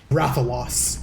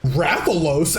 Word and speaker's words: Rathalos: monster undertone he goes he goes um rather loss that's how he pronounces it and then she goes raffalos and i'm like this is that's not what he said this is like even